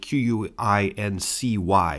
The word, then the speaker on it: Quincy: brings us to John Quincy Adams yes spelled q-u-i-n-c-y but pronounced Quincy and his successor Andrew Jackson both